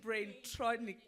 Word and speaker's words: Braintronic: No, it's actually Braintronic, as in mechatronic, but the Braintronic.